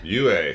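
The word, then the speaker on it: Yueh: Yua, Dr. Yue. Yue, thank you, correct pronunciations.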